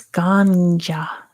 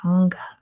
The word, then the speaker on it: Ganga: See, Ganges is the English pronunciation of this goddess's name. Thank you, Amin. Tom's got it. It's Ganja. Ganja. Good job too, Tom. Ganja or Ganga.